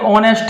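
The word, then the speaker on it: honest: रहा हूं सिंपल सा ये ऑनेस्ट है एच ओ एन ई एस टी ऑनेस्ट इसको क्या बोल रहे हैं ऑनेस्ट लेकिन स्पेलिंग कहां से स्टार्ट है एस से एस तो वोल नहीं है एस तो कंसोनेंट है लेकिन इसमें एस साइलेंट है इस वर्ड में एच की कोई आवाज नहीं है सीधा ओ की आवाज है ठीक है ना तो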